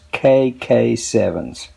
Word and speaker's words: KKSEVENS: By the way, I uh checked with the manufacturer and the corre correct pronunciation of this company is KK7s.